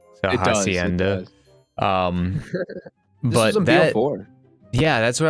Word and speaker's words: Hacienda: Helens, however you pronounce that. Hacienda. Hacienda. There we go. Hacienda. There's no L.